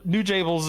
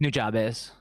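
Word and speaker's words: Nujabes: Uh the the music, I mean, how the new new Jables is like is that that's not how you say it. It's New Jabz.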